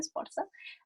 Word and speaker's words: Sforza: Este trabajo del profesor Cavalli Sforza, voy a subir que se pronuncia Sforza, académico de la Universidad de Stanford, es una